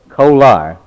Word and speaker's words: Kolar: your name kolar colar k-o-l-a-r you could pronounce e-coli uh most people call you kohler don't they but you like the coal iron huh uh um what